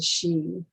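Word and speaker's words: sidhe: the home of the she s-i-d-h-e pronounced machine sometimes the two today are referred to as the sheen and this structure is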